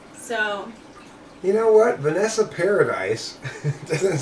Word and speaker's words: Paradis: Paradis. Oh, so it's not Paradise.